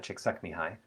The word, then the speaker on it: Csikszentmihalyi: This is a little bit like there's a Mihai Csikszentmihalyi I learned how to pronounce his name from knowing some people who are from the country he's from or from the region he's from.